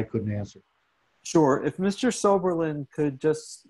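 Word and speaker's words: Swoberland: Spelled S-W-O-B as in Victor, E-R-L-A-N-D. Pronounced Soberlin.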